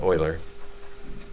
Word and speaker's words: Euler: is Euler um well either like the Houston Oilers not Euler but Euler and so it's possible